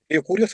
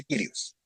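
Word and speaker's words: Kyrios: Curios se pronuncia Kirios.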